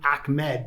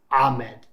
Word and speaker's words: Ahmed: to pronounce it right i originally pronounced his name salva ahmed but i've had arabic people like four of them contact me and say in arabic it's ahmed but i had other